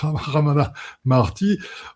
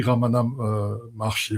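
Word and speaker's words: Ramana Maharshi: Comme dirait Ramana Marti, on n pas vous m'excusez pour la prononciation, c'est Sheri Ramana Marchi.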